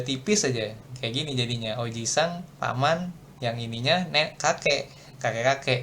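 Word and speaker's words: おじいさん: Nah, kalau i-nya nggak panjang, artinya apa? Artinya paman. Jadi ini kalau i-nya panjang, dia jadi kakek gitu. Nih, Oji-san kakek, ya kan? Tapi kalau dia i-nya satu aja, jadinya paman. Gitu.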